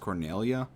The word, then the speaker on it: Cornelia: life cornelia will be mine uh it's actually pronounced cornelia who's there the king's lap dogs do you